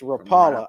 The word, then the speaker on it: Rapala: I just watched the commercials and however they pronounce their product I well they're Yankees It's Rapala I called it Rapala all my life tomato